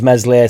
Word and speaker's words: Meslier: Who remembers Meslier, silent S now?